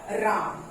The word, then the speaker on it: राम: Lord राम. Yes, Lord राम. ठीक है, Lord राम. तो लॉर्ड रामा भी बोलते हैं या लॉर्ड राम भी बोलते